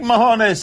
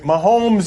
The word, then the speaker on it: Mahomes: more please these pathetic Mahoney's help we'll hear his case for NVP last night all right mahomes is not pronounced that way that's the Spanish word for turds I don't know why